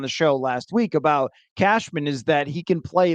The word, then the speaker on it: Cashman: His name is pronounced Cashman.